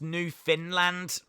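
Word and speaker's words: Newfoundland: uh by the way New Foundland it's pronounced New Finland well we found this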